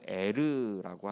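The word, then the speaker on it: ער: 다른 단어입니다 l이라고 지었는데 그 히브리어 발음으로는 에르라고 하는게 맞습니다 그래서이 철자를 반대로 바꾸면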